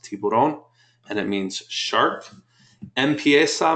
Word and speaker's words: Tiburon: so you may have seen the Hyundai T tiberon they call it but it's actually Tiburon it's pronounced Tiburon and it means shark Mesa means starts um